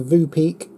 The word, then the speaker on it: Voopeak: three names so I'm I'm going with the Vu peek and Vu peek is spelled v o o p e a ky